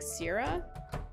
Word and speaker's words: Cera: It said Sarah, but it's spelt with a C, C-E-R-A. Sarah? I guess it's Sarah, but I always thought it was Sarah. Sarah. Maybe it's Sarah.